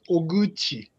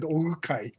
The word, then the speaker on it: Oguchi: Yeah, sorry, my family name is hard to pronounce, so yeah, she said Ogukai. That's one possible way. And some people, particularly, for example, French people say Oguchi instead of Oguchi, but this is Chi, yeah.